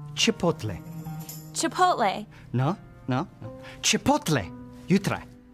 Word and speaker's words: Chipotle: It's pronounced Chipotle.